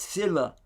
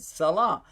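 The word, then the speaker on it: صلة: And they said, no, that's sila. It doesn't have the diacritical marks on it, so I was pronouncing it salah. But he said, no, that in that case it meant sila.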